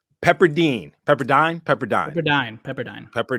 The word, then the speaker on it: Pepperdine: Trey Murphy type player pepperdine's in Malibu that must be nice yes it is in Mal and here's where I'll correct your uh pronunciation Pepperdine pepper dine pepper dine yeah yeah you could tell